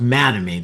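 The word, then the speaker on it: Mattamy: The original builder out there was Madame and uh that's Matt and Amy. Take the words Matt and Amy, the names, put them together, and it's pronounced Madame.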